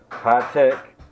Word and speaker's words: Hitec: present I got here things pronounced high-tech multi charger x2 a